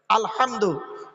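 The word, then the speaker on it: الحمد: আলহামদুলিল্লাহি রাব্বিল আলামিন আলহামদু গলার ভেতর থেকে হে এটা উচ্চারণ করবেন আলহামদু আলহামদুলিল্লাহ মানে হচ্ছে সমস্ত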